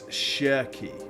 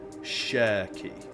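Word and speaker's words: Cherki: Okay, so it's Sheri. Ryan Sheri. Sheri. The ch is pronounced asshy. Okay, there you go. Have we are we is that helpful? You know, uh Shery is his name.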